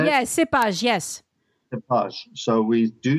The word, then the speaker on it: cépage: Yeah, cépage, yes.